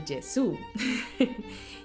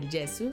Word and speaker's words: Gesù: my previous video that the correct pronunciation of del Gesù would be del Gesù. Even though I've been growing up listening and always speaking of del Gesù, so in that way I feel a bit more comfortable.